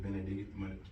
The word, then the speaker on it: Benavidez: So Caleb Plant versus David Benavidez. I can't pronounce his last name.